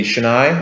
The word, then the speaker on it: shinai: The Shinai, is that how you pronounce it? Shinai, yeah.